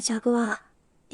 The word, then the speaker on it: Jaguar: 正しい発音はジャグワー。